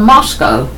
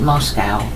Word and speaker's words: Moscow: well didn't reef from Moscow I know you pronounce it Moscow but it is Moscow believe me a Ukrainian